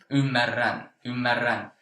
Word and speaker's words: ymmärrän: And this, for people who have not got used to pronouncing two R's, it might be hard. But for you, of course, I see that it's not a problem. But for listeners, it's something that might take a little bit time to get used to pronouncing the two R's, but you pronounced it very well.